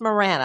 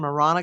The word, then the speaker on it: Marana: Uh well, it's Marana. I keep saying the Spanish pronunciation Marana cuz I didn't know, but I guess in Arizona they they use the English pronunciation Marana.